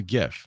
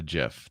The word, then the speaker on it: GIF: here's here's the decider how do you say gif a gif that's it it's not it's not a jiff that's for sure right